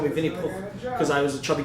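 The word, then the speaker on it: Винни-Пух: Yeah, Vinny Pooh. It means like Vinny the Pooh in pronounce the Russian. H? So it means that's how you say it in Russian.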